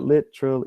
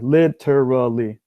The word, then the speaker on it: literally: literally literally is that when you say it it's literally you have three syllables literal yeah when I say it it's four literally yeah there is another